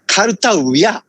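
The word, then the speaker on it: कर्तव्य: The point is, usually the kartabhyaha is the, I think it's a correct pronunciation, but as long as I know, most Indian people pronounce it kartavya.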